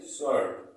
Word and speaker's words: sword: ठीक है, सेकेंड है हमारा SWORD। इसको क्या पढ़ेंगे, इसको पढ़ेंगे स्वर्ड। क्या पढ़ेंगे, स्वर्ड। इसमें भी W साइलेंट है, इसको पढ़ेंगे हम स्वर्ड।